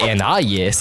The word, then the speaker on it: Anais: It's usually pronounced according to the name's French origin, but it's occasionally pronounced according to the English phonics anis instead.